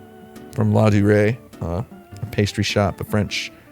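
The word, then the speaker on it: Ladurée: I used this little pastry box from, I think it's pronounced La Durée. From La Durée, a pastry shop, a French dessert shop, cafe here in New York City.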